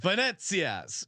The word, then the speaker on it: Venezia: Venezia's. Right. You give the Italian pronunciation of Venezia. No, you got it. You nailed it. Venezia. You even got the hand inflection right.